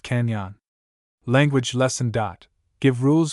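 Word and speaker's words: cañon: The word canon is pronounced canyon.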